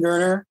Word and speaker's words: Goerner: right yeah so look up my name gerner g-o-e-r-n-e-r d-o-e-r-n-e-r yeah i had to i asked him for his pronunciation just to make sure i had it